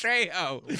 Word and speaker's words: Trejo: So I got a pitch I got to do after this, the Danny Trio. Dude, Machete versus Machetes. Pennywise. That's I a think movie. He's saying his name wrong He too. is. Trejo.